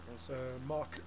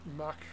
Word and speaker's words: MaK: engine manufacturer called em it's spelled m-a-k mark mack however you want to say it and they make big